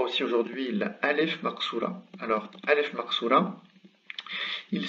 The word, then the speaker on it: alif maqṣūra: Donc, il se prononce A exactement comme la Aleph.